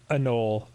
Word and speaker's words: anole: Also, I'd always heard it pronounced anole. I think you're right. It is anole.